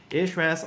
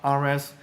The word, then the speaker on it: Ahrefs: For example, if we use something like Ahrefs, Ahrefs or RFs, depending on how you like to pronounce it, is a pretty popular SEO tool.